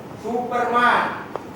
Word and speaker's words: Superman: Hongkong film star okay, Superman It’s pronounced Super Man! Not supermen.